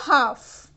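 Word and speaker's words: half: एंड अ हाफ। अ हाफ, यहां पर H silent नहीं है, प्रोनाउंस करने में क्या आ रहा है?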